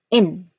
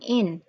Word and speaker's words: inventory: We have four distinct sounds for this particular word. We have first, in. We have a short e sound here, in, in, van. So van, there's a short e sound as in bed. Invent, to, t. It is not well spoken as, well enunciated as o. So it's between o and a, t. Invento. Again, to.